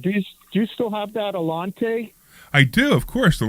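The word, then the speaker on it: Allanté: and it's an '83 Alante with the V8 North Star engine. North Star. The North Star. Of course. And how do you say the car? Alante. Right, Alante.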